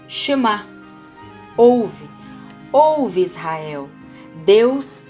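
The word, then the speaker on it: שמע: Por exemplo, a palavra Shema, pronuncia-se Shema, é frequentemente traduzido como ouvir, mas também tem um significado muito mais amplo, mais profundo do que perceber o som.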